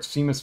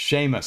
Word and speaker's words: Seamus: uh fearless leader our Overlord Seamus Finnegan or is it Sheamus I made you pronouncing that wrong I pronounced everything wrong it's totally wrong anyways Overlord Finnegan there we go I'm pretty sure I'm pronouncing Finnegan right it's Sheamus okay thank you yeah I